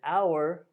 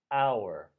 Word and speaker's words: hour: first one is an hour lunch break so here H is silent we don't hear the H at all here we hear an hour hour so the H